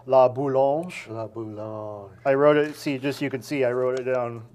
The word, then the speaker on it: La Boulange: So it looks like boo, and then you're mowing your lawn. Boulange. Yeah.